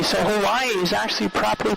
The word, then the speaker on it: Hawaii: And then the W's sound like V, so Hawaii is actually properly pronounced Hawaii.